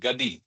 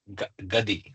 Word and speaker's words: gadi: So is it gi or gadi or gadi? So is it maratti? It's a marati word gadi.